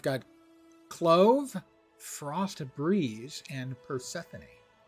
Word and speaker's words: Persephone: We've got Clove, Frost Breeze, and Persephone. Not sure why Persephone would be that color, but okay. If you prefer the non-Greek pronunciation, Persephone.